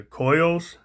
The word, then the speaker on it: Coeus: I will sometime, but the Koyos, and that's spelled Coeus.